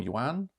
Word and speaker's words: yuan: 13 was the Chinese yen or yuan, how it's pronounced.